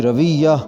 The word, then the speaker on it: رویہ: گی مصلحت، مصلحت۔ رویہ، واو کے اوپر زبر، تو تلفظ غلط ہوگا، صحیح لفظ ہوگا، صحیح ادائیگی ہوگی رویہ، رویہ، جسے انگریزی میں